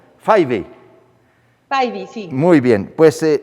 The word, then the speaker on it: Fyvie: Se pronuncia Fayvi. Fayvi.